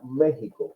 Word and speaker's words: México: próximo usted ven que la palabra México se escribe con x pero se produce México porque la x es